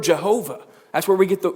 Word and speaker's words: Jehovah: Yahweh or Y and with the Y that is often pronounced as a j because of the Hebrew language that's where we get the word Jehovah that's where we get